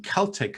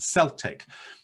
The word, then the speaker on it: Celtic: simple like you said the difference between celtic and celtic you know one is that the celtic cultural continuum has the word has always been pronounced with a hard cut sound but the football team from scotland is celtic and i don't know why